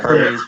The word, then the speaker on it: Hermes: So go subscribe to how do I pronounce? So it's like Adventist Hermes. Hermes. Yeah, Hermes.